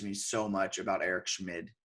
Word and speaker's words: Schmid: I think that's how you pronounce his name, Schmid. I like to say it where it's like you could be saying Schmidt or you could be saying Schmid. I think it's Schmid, but if you say it sort of,